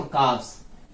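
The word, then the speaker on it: calf: इसको पहली बात एल साइलेंट है यहाँ पे, तो इसको पढ़ते क्या है? काफ।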